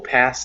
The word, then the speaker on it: pass: You'll pass the whole gang. Oh, you'll pass the whole gang. And remember the word pass, that it's with an S sound, not a Z sound. So not pass, but pass.